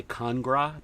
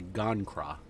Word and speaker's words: Gon'Cra: to con to gangra I always pronounce I always switch the G in the C I always say kangra but it's actually gone craw um for our weekly